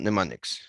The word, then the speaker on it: mnemonics: So for that, we've got something called mnemonics. Sure, the capital M is silent.